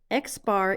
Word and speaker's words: X bar: a test the X bar that's how we pronounce it X bar is the average or the mean and in